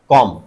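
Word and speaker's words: comb: कॉम। तो आपने देखा एम के बाद अगर बी आ रहा है तो क्या हो जाएगा? साइलेंट और बोला कौन सा जाएगा? म बोला जाएगा।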